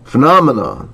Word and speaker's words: phenomena: Phenomena. 중간에 이음절 강세 있습니다.